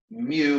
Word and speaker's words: mu: constant it's called mu naught again mu is pronounced mu is the Greek Little M all right so